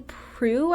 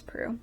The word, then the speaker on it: Proulx: Brokeback Mountain by Annie Proulx, I think is how you say her name. They said it multiple times in the audiobook. I think it's Proulx.